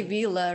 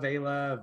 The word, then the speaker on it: Vela: wrong this whole time they say villa right yeah they normally say vila vela villa you you nailed it so thank you is